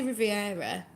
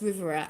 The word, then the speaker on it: Rivera: about um near i want to say riviera oh it's rivera i can't ever remember